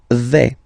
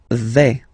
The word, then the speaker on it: vais: The first form is je vais. Okay, so remember, final S not pronounced here. Je vais. Okay, when you combine this A, I, you get the sound E, really open.